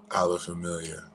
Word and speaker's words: Ala Familia: Dinner at Ala Familia. What is that one again? Ala Familia. How do you spell that?